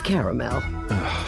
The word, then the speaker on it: caramel: It's caramel.